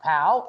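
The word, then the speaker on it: POU: POW, that's pronounced POW, and it's a lot of times these acronyms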